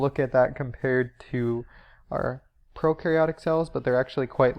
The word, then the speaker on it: prokaryotic: talk about the word procaryotic first though so Pro means before and carry means nucleus so before a nucleus or another way to think of it is pro rhymes with no so no nucleus this